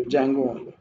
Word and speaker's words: Django: will write 800 percent D is silent so how to pronounce Django it's diesel in Jay and G Django you don't pronounce with